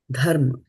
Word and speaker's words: धर्म: And this is dha as in dhanush. Dharma, right? Dharma-kṣetre, not dharma-kṣetre.